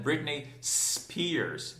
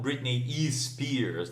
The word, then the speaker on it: Britney Spears: Britney Spears, e não Britney E. Spears, né? Não tem izinho, tá bom, gente?